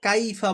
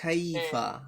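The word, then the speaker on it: كيف: কাইফা পড়ি আমরা, কাইফা, এটা হবে হ্যাঁ, খাইফা। হ্যাঁ, খাইফা, একটু বাতাস বের হবে, বুঝছেন?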